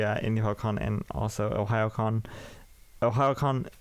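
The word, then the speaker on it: Ohayocon: OhioCon is spelled OHAYO.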